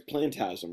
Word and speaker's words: Plantasm: Plantasm. Am I saying it right? It's Plantasm, right? Yeah. Yeah. Not Phantasm, not to be confused with the mega franchise, Phantasm.